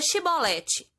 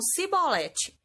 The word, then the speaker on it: Shibolete: Então eles pediam: "Diga Shibolete." Mas eles sempre falavam Sibolete, porque não conseguiam pronunciar corretamente.